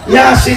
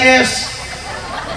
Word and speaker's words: Yasin: Yasin dibaca sebagai "yes", saya mendengarnya, membaca Yasin sebagai "yas yas yes yes".